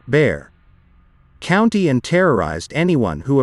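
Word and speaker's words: Bexar: the rural areas of bear pronounced bear county and terrorized anyone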